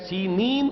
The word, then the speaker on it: سینین: صحرائے سینا، یہ ہے، سینین اس کا تلفظ ہے، یہ جمع کا صیغہ آیا ہے، اور عبرانی میں اس کو سینین کہتے ہیں۔ عربی زبان میں یہ